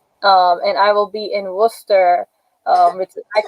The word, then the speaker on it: Worcester: And I will be in Worcester, I call it Worcester, but because that's how I see it spelled, but they say Worcester in Boston.